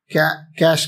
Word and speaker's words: cache: cache memory uh like it will be pronounced as cache memory CA as such cash kind of catchy memory